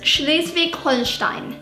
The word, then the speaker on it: Schleswig-Holstein: But I can imagine in English, it would be Schleswig-Holstein. Schleswig-Holstein. Yeah, but it's Schleswig-Holstein.